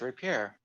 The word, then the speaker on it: rapier: Because that's how it's pronounced, rapier. Yeah? It's French. Alright.